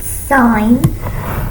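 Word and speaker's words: sine: It's spelled s, but it's pronounced sign of sign.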